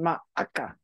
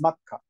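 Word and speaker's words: まっか: Oh, that's easier to say than ma'aka. Yeah, well, it's makka. Makka. Is it makka? Yeah, there's no additional a.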